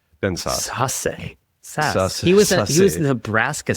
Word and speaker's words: Sasse: like this observation from Ben, how do you pronounce his last name? Sasse. Ben Sasse.